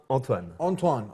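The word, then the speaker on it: Antoine: show with Anthony and proper pronunciation or proper way to say this name is Anan antoan antoan okay so antoan uh now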